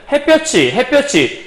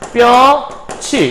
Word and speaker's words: 햇볕이: 그런데 사실은 이렇게 발음할 수도 있지만 요거를 여기를 우리가 발음해보면 햇볕이 디귿 발음을 잘 안 하기도 해요. 그래서 또 하나의 발음으로 가능한 거는 햇볕이 이렇게 해서 디귿을 뺄 수도 있다는 걸 여러분이 함께 알아두시면 돼요.